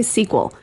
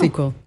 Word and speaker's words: SQL: You have two options. You can say the letters and that's fine. SQL. You can also say SQL. Uh anything else don't. No SQL.